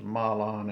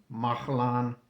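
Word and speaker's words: Mahlon: And the name of his two sons were well I always said this was Malan and Chilion but it's uh it's actually pronounced Mahalan and Kilion they tell me.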